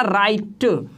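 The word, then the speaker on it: right: है मैंने अभी बोला आर आई जी हा टी राइट इसमें बोला राइट इसमें ग का साउंड है ही नहीं तो यहां पर जीएस साइलेंट है राइट तो यहां तक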